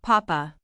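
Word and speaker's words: papá: Notice the accent on the last A. That gives it a strong sound, papa.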